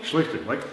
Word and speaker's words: Schlichting: Schlichting. Like lightning, but with an S, right?